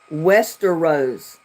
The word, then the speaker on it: Westeros: Wilson what well-known TV show takes place in Westerose Westeros Westeros it's spelled w s t e r o s